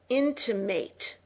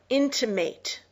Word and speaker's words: intimate: is a verb it's intimate it is pronounced with a long a intimate it's a verb and